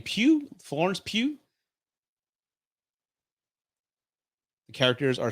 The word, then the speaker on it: Pugh: Well, Florence, if you, how do you pronounce her name? Pugh, Florence Pugh.